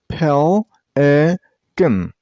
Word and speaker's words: pelican: It has two syllables. Pelican. And while you pronounce the word, stress on the first syllable.